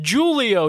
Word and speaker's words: Julio: you know whatever um his name is spelt julio oh but it's pronounced we talked about julio like jewel pod like giulio torres are their names